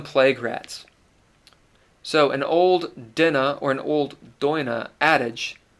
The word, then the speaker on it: Daoine: You've got the Dinna. You could pronounce this Daoine. You could say Daoine. We did for a while. That's actually incorrect. It looks like it's Daoine. It's not. It's Dinna or Daoine.